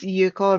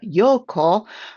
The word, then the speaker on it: Yuko: My name is Yuko. I am not Yoko, like everybody knows Yoko Ono, I think. My first name is pronounced like Yukon. I usually say Yukon potatoes.